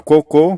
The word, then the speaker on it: cocô: É por essa razão e por fim a palavra cocô que significa fezes excrementos utilizado mais informalmente para se referir a esse sinônimos é uma oxítona terminada em o nós acabamos de ver que as regras de acentuação determina o que se a palavra oxítona terminada em a e o ela é acentuada então a palavra cocô é acentuada porque termina em o e a sílaba tônica